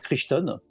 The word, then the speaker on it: Crichton: Alors c'est le même Michael Crichton qui avait fait ça prononce Jurassic peut-être Park. Crichton, ouais.